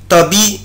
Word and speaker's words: tapis: un tapis un tapis tapis السجادة. طبعا ici je ne prononce pas la lettre S مش بنطق حرف الاس في كلمة tapis un tapis un tapis